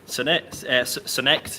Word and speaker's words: Sonect: Sonect? How do you say it? Sonect, yeah, that is correct.